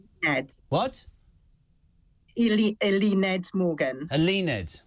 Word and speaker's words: Eluned: Eluned Morgan. Eluned, not Eluned.